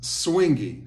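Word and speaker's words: suingue: was Brazilian ised as swingy so in Brazilian Portuguese they say swingy often spelled s UI n gu sometimes it's just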